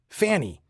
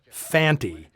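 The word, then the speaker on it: Fante: I'd assumed Lee Van Cleef's character was named Fanny since that's how both Earl Holliman and Bryan Don Levy always pronounce it it's only when Conte speaks the guys name does he clearly say Fanty I'm talking to you answer me why'd you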